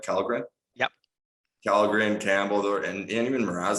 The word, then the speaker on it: Källgren: Am I pronouncing that right? Källgren?